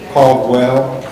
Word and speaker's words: Caldwell: Caldwell. Yes, sir. How do you spell that?